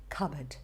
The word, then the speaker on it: cupboard: CUPBOARD, and you're not at fault if you're saying cupboard or cupboard, because the P is actually silent and you're meant to say cupboard.